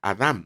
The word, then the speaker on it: Adam: Realmente se pronuncia correctamente Adam. En el hebreo antiguo era Adam, ¿no?